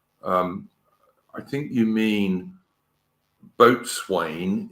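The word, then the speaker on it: boatswain: I think you mean boat Swain is pronounced bosen uh but yeah I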